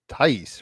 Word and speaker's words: Thaïs: It's Thaïs, right? Yeah, correct. All right, cool. We'll geek out on that in a second. So yeah, it is episode 321 contact with Arabella Thaïs, Curating Vibes.